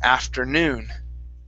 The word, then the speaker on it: afternoon: Okay, so this word, the stress is at the end of the word. Instead of afternoon, it's afternoon.